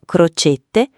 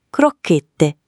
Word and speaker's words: crocchette: Non croccette, ma con la cidura. Crocchette.